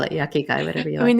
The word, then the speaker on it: ikigai: Because I know I'm Yuck. saying it wrong, but that's how I heard it. The yucky guy. That's a good one. I should. It's Ikigai. Oh, icky guy. Yeah, Ikigai.